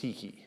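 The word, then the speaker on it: stichoi: By the way, the plural of stikos is stiki, and it looks like stikoi, spelled O-I, but it's pronounced stiki.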